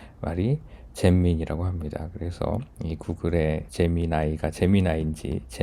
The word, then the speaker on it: Gemini: 많이 했었죠 재미 나이인데 어 재미 나이가 맞는 발음인데 우리 이 식으로 그냥 읽으면 잼민이 같아 갖고 잼민이 잼민이가 뭐 잘